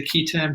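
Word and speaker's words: qui tam: I use key, even though I had years of Latin education as well, because somebody once told me if you don't pronounce it the way everyone else does, they'll think you don't know what you're talking about. So I'll say key tam, and that extends to the tax provision.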